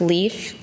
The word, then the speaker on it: LEIF: I would like to talk to you today about Lake Erie International Film Festival, or LEIF, pronounced LEAF for short.